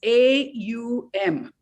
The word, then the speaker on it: Om: It in many places, Om is spelled as A-U-M. Aum. They say those three sounds are important in Om rather than just saying the O.